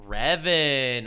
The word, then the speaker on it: Revan: of course talking about Darth Revan or just Revan okay so I pronounced him wrong the whole time cool Revan as he's